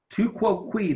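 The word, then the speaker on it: tu quoque: would be a fallacy to quote we that's how you pronounce this funny-looking word it's a Latin and it means you too so these kinds of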